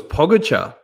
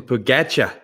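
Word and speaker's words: Pogačar: it was interesting uh phil's pronunciation of uh i thought it was pogbachar but he calls him pagacha yeah who's gonna argue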